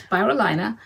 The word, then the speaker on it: Spirulina: And starting with this one, we have Melba Sweet Pea and Spirulina. I checked the pronunciation before we got on. Okay. So it's Spirulina.